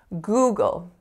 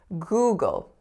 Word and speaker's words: Google: of the time so I often don't hear that ooh vowel on the first syllable and the dark L I mean that's a